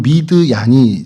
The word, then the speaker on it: 미디안: 그래서 그 미디안에 대해서 조금 좀 설명을 드리면 미디안이라고 저희는 하지만 히브리 발음으로 하면 미드얀이 좀 정확한 발음이죠.